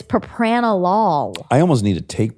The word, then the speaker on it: propranolol: pronouncing this word and it is propanolol it is yes it's not propanol no and I thought it was too yeah it sounded so right when you said it it I wanted it to be right but it's Propranolol I almost need to